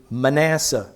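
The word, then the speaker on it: Manasseh: the South ever had his name is manhe you might pronounce it manasse and manasse was so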